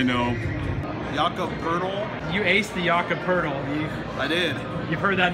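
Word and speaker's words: Pöltl: youth Jakub hurdle Dinoco hurdle okay so his last name rhymes with turtle doesn't look like it though no definitely not you're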